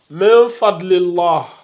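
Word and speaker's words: مِن فَضْلِ اللَّه: Donc, on a min fadlillah. Min fadlillah. Min fadlillah. On ne fait pas la fusion, mais on fait un peu de runna et on dissimule le noun. On ne prononce pas le noun.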